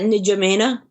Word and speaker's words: N'Djamena: Yeah, it's that N'Djamena.